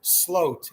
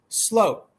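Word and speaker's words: Sloot: may get the truth out of Mr Vander Sloat and I learned something new every day and today I learned it is pronounced slope I had a very interesting Theory um that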